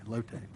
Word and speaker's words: Lotte: president just real briefly axial is planning a joint venture with Lotte chemical I found that that's correct pronounced locate a South Korean corporation to expand on a